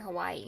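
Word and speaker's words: Hawaiʻi: I noticed when I was in Hawaii, they spell it the same, but there's apostrophe between the I's. In Hawaii? Yeah, like for the word Hawaii. Oh, because that's why it's Hawaii.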